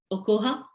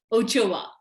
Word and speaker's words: Ochoa: panel is professor christiana okoha i hope i'm pronouncing your name correctly christiana professor okuha ochia is it ochoa ochoa i'm sorry my apologies professor ochoa has been recognized for